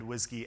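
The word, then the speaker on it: WSGI: or Nginx, reverse proxying requests to a dedicated WHISky application server, such as Green Unicorn or uWHISky.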